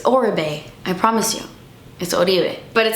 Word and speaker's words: Oribe: thickening treatment spray from uribe every time i say his name like that people are like it's oribe i promise you but